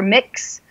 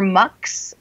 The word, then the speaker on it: Mx: of your name so you can pronounce it either mix or mck um I haven't really